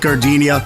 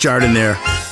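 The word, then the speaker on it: giardiniera: And guys, when you're at the counter, don't call it Gardenia. It's pronounced Jardiniere.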